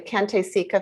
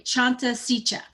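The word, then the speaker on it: Cante Sica: this correctly lisa the kante sika foundation boarding school stories uh it's actually chanta sicha thank you for correcting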